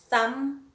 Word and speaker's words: thumb: Then words that end with a silent letter, we've got tomb, we've got thumb, womb, bomb. Then we have dam, hem, column, and autumn. So common letters there, it's the N at the end and the B at the end.